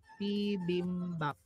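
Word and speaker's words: 비빔밥: So, ang ating first syllable is P. Second syllable is BIM. Third syllable is BAP. P-BIM-BAP.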